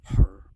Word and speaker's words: Horus: I mean, you don't pronounce the S in ancient Egyptian, it's just her, but which is kind of like the persona, the image that's projected.